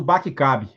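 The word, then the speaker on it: BAC-CAB: o que a chamada regra do Bate cabe é assim mesmo que a gente pronuncia bate cabe é basicamente de trás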